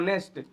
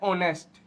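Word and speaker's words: honest: इसको ऐसे कहते हैं नेस्ट लेकिन मैं बता दू नेस्ट नहीं होता वो होता है ऑनेस्ट क्या होता है ऑनेस्ट क्योंकि इसके अंदर एच जो होता है वह साइलेंट होता है क्या होता है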